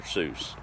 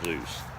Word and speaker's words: Seuss: Seuss yeah that's how his family pronounced his name was or would be called a fool if we said that wouldn't I guess it's all in what popular opinion ends up with their pseudonym dr. Zeus but that's another one